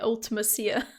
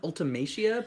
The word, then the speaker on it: Ultimecia: That's how I say it, Ultimecia. Oh, interesting. I've always said Ultimecia, but I always none of say the us names really know wrong.